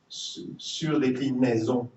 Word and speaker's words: surdéclinaison: linguists call the Surdéclinaison, which is pronounced Surdéclinaison. And yes, some people will say that's not true, but yes, I do pronounce the E and the A differently at this position.